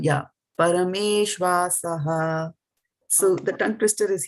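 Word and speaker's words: परमेष्वासः: parameṣv-āsaḥ. Yeah, when you're pronouncing it, this and this will go together. This and this will go together. There's a dash there, right? So Yeah. this becomes one. Yeah, parameṣv-āsaḥ.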